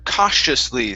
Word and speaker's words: cautiously: go to the word cautiously so the ti here we're going to treat that as an sh sound hush cautiously cautiously very